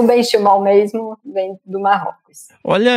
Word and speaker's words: Benchimol: Como que pronuncia seu nome? Benchimol, Benchimol? Benchimol.